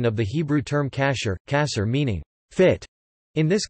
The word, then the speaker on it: כָּשֵׁר: Food that may be consumed according to halakha law is termed kosher in English, from the Ashkenazi pronunciation of the Hebrew term kasher, kasher meaning fit.